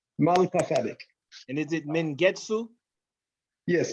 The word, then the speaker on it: Melchizedek: Malkasadik. I'm saying it the Melchizedek. way we would say it in Amharic. It's not exactly the Hebrew, but it's easier Amharic. to pronounce. Malkasadik.